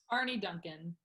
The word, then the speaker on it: Arne Duncan: How do you pronounce her name? Arne Duncan? Arne Duncan.